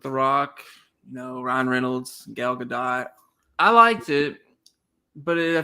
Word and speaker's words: Gadot: I like how you call her Gal Gadot. I think it's Gal Gadot. Whatever, it's Gal, okay? I think you're right on the first part. You put the emphasis on the wrong syllable.